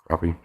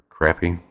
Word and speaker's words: crappie: stuff like that perch crappie crappy since i've been told it's pronounced either way garcia what's going on